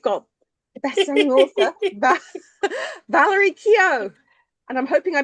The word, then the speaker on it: Keogh: But we've got a bestselling author Valerie Kio. And I'm hoping I pronounced that right, Valerie.